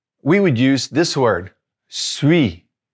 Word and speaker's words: suis: Je suis, not saying that S at the end, consonant at the end, we're not going to pronounce it.